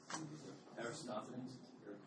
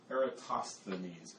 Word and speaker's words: Eratosthenes: Aristophanes. Pretty close. It's the sieve of Eratosthenes.